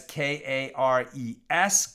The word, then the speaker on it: kares: And if you're Googling the question to learn more about it, you can Google it either as K-A-R-E-S, kares, more Ashkenaz pronunciation, or K-A-R-E-T, karet, kind of an Israeli Hebrew pronunciation.